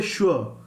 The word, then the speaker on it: sure: See, we do not say swar, we say sure. So though it starts with only S, but here the pronunciation is SH, sure, sure.